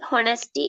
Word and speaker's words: honest: dishonest නෙමෙයි dishonest. honest. pronounce කරන්න Honest. එහෙම. මේක HONEST කියන්නේ honest. honest නෙමෙයි honest. හරිද?